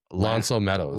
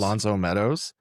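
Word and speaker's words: L'Anse aux Meadows: So I wanted to ask, because I didn't do, and you're better at pronouncing French words than I am. What was this place? Lonceau Meadows. Lonceau Meadows.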